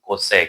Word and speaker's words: cosec: cosec।